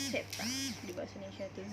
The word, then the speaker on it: zeta: Z ya dibacanya adalah zeta.